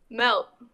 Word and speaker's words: Melt: Melt. You can call me Melt. Melt. Melt? That's what I said, Melt. No, say it right. Pronounce the T at the end. Melt.